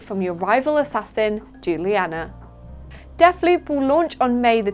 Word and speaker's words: Deathloop: is 64.99 fun fact def loop also rhymes with two of my favorite foods hula hoops and spaghetti hoops it's so cheesy our